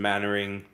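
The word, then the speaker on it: Mainwaring: Paul and oh um yeah Aaron's already mentioned mannering Chumley barmy fathering gay fips funy fips funy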